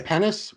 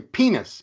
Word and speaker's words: penis: English pronunciation doc it's you say pennis we say penis penis or Ronnie okay well then you can't mess that up but it rhymes with cleanest or meanest that's from the rap